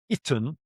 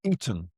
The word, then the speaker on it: Aten: Aten, which is the Aten. It's normally pronounced as the Aten, but in truth, this reglyph is more like an E sometimes, or perhaps even an I. So you could say Iten or Eton.